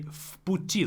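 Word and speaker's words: в пути: I say vputi, like as if it's an F. Vputi. Why is that? Because the next word starts with a voiceless consonant p. It's not just because it's within one word. We pronounce this all together as if it is one word.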